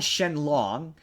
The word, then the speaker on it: Shenron: they they they okay they call Shenron Shen long which is like yeah okay technically speaking that's his name in Japan right that's but but